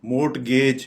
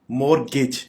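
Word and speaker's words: mortgage: मोर्टगेज, ये गलत pronounce कर रहे हैं, मोर्टगेज। इसको हम करेक्ट प्रोनाउंस इस तरह से करेंगे मोर्गेज, यानी एक तो हम यहाँ पे टी साइलेंट रहेगा और गेज नहीं कहेंगे, गिज।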